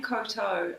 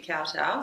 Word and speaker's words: Kowtow: Um, but yeah, the name Cotto, it the correct pronunciation is actually cowtow.